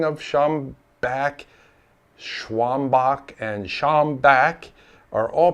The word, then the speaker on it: Schombach: don't address them immediately the word of mouth Legend speaks of a man named matius sham Baker and the shambaker tavern please know that the tavern's actual name was shambach and named after Matthias